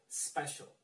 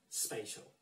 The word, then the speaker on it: special: this one this one you have to say special not spatial okay let's get the